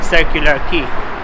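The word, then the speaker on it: Circular Quay: here in Sydney and I realize that is pronounced as a circular key both he yeah it is like that we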